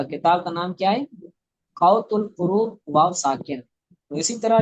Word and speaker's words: قوت القلوب: یعنی دلوں کی غذا، بعض لوگ اس کو قوت القلوب پڑھتے ہیں۔ قوت القلوب کتاب کا یہ نام نہیں ہے، غلط ہے، درست تلفظ کیا ہے؟ قوت القلوب یعنی دلوں کی غذا۔